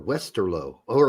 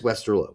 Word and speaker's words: Westerlo: Pete calls him, Westerloo, even though there's not 2 O's at the end. It is Westerlo, by the way. Westerlo, not Westerloo. Waterloo has 2 O's in it, same country, and it is Waterloo. You have to have 2 O's in Belgium to make the Loo sound.